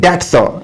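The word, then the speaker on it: debt: I have not known the family of Abdul मुत्तलिब to delay in repaying dates, यहां पर ये है डेट, इसका जो बी है ये साइलेंट है, और ये भी कहते हैं कर्ज को।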